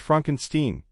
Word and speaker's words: Frankenstein: Frankenstein Jean Wilder's Dr Frederick Frankenstein it's pronounced Frankenstein is a descendant of